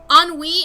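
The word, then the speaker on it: ennui: French word for boredom I knew it was French cuz it's just all you need to do is pronounce that thing like that word like once and you get it real quick it's it's it's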